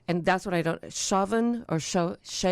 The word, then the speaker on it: Samhain: Some people say Samhain. Samhain. But Yeah. in reading about it today, both of those pronunciations are said to be incorrect by people who know Gaelic.